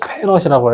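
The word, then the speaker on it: 패럿: F라고 쓰고 페럿이라고 그러고 페럿. 단위를 페럿이라고 읽어요.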